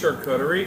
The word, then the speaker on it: charcuterie: It's pronounced charcuterie in Turkish and charcuterie in French. Say the Turkish one again. Charcuterie. I like Or charcuterie in French, which is the original word.